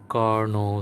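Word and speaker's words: Carnot: অ্যান্ড ফর a reversible cyclic process, যেটার সব থেকে ইম্পর্ট্যান্ট অ্যান্ড বিউটিফুল এক্সাম্পল হচ্ছে আমাদের কার্নো সাইকেল। রিমেম্বার কার্নোট, এটার প্রোনাউন্সিয়েশন হচ্ছে কার্নো, টি আমরা এখানে উচ্চারণ করি না, কার্নো সাইকেল।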